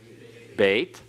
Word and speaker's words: Beit: The second letter is Beit. And what sound does it have? B, just the same sound it has at the beginning.